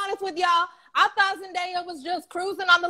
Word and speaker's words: Zendaya: that's gonna be our communities okay next question zendaya that's how you pronounce it zendaya winning the emmy for outstanding